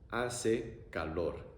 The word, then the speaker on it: hace calor: A-e-a-o, A-e-a-o, hace calor.